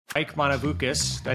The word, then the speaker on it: Monovoukas: Mike Monovoukas. Did I say it right, Mike? I always get it wrong. Yeah, Monovoukas.